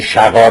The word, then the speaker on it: شغار: کنیم و عرف بعده شغار به کسر شین یعنی برخی همین شغار رو به همین واژهای که من تلفظ می‌کنم با کسرهای که در زیر شین گذاشته میشه یعنی شقار و شقار نیست شقاره نکاح ف